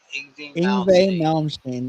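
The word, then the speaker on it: Yngwie Malmsteen: And see, uh watchman says, "My son caught two picss that Mountain Melmstein. That's how you pronounce that.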